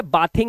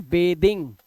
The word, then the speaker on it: bathing: एक और बात याद रखना, BATHING, ये बाथिंग नहीं होता है, ध्यान रखना, इट इज बेदिंग, क्या होता है, बेदिंग, ये बेदिंग है, बाथिंग नहीं बोलते इसको, इसका राइट प्रोनाउंसिएशन है बेदिंग, ठीक है, जब इसमें आईएनजी लग जाता है।